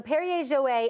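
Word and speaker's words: Perrier-Jouët: Because I say Perrier Jouet, but I don't. That's exactly how you say it? Yeah, so Perrier Jouet, and that is what kind?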